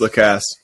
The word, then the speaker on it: Lacasse: Annalise Garcia, formerly known as Annalise Garcia, now Annalise Lacasse. Yes, She's lobbying for our last name to be pronounced Lacasse, which I understand, actually. all right. How would the French say it? La Casse.